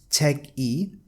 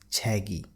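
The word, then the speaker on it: 책이: what will happen is this K character K character will move on to the next syllable and it will replace the vowel sound and it will be pronounced as this word chi so you will not read it as check e you will read it as chagy so let's see here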